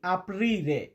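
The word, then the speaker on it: aprire: তো ভাই আমি প্রত্যেকটা শব্দকে চারবার পাঁচবার উচ্চারণ করি। দয়া করে আপনারা সম্পূর্ণ ভিডিওগুলা দেখবেন এবং শব্দগুলা মুখস্ত করবেন। এখানে আমরা রেখেছি আপিরে।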